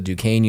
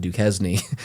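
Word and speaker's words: Duquesne: school I went to Dukane University in Pittsburgh or some people like to call it Dukeznney. uh um just because they don't know how to pronounce French words or whatever the heck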